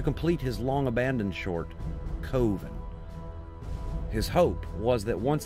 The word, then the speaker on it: Coven: last name the short film was called covet pronounced by mark as coven this particular short film and mark burchard himself